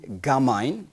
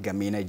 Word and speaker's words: Gamine: On my minute right, she is Gamine. That's how her name is pronounced, not Gamine.